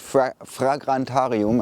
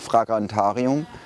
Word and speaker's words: Fragrantarium: So the perfume is called British Grasslands and the brand is called Fragrantarium. I'm pronouncing it in German because I assume it's pronounced German.